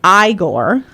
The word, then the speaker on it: Igor: alongside his peculiar sidekick eigor pronounced igore my favorite one yeah